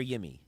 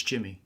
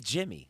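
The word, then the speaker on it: Yimi: it Jimmy Garcia or yimy it's Jimmy it is Jimmy oh man yeah even though it's a y you pronounce that as a j oh okay well glad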